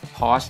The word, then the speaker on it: Porsche: Porsche Story นะ ฮะ จริง ๆ แล้ว เนี่ย เขา น่า จะ อ่าน ออก เสียง กัน ว่า Pause นะ ครับ แต่ ว่า เรา ก็ ติด เรียก Porsche แล้ว ก็ อ่าน ว่า Porsche แล้ว กัน นะ ฮะ ก็ เป็น